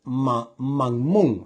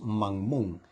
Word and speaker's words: mammón: de las riquezas es mammón algo así se pronuncia mmon o mmon sí